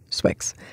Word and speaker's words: swyx: an article an essay by swix s-w-y-x it's his initials of his Chinese name and his English names put together and he pronounces it swix he's a coder a